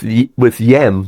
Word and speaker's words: hyem: It's the same with yem. The word yem is written down as HYEM because people will pronounce it as yem.